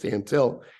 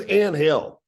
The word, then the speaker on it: Antil: the morning and and my last name is pronounced Dantel and he's like comes walking in there's 50 60 people in this little room up there because Bobby Cox is going to give a press conference for the team and he goes Hey where's Ann Hale pronounce my name like Angel where's angel I'm like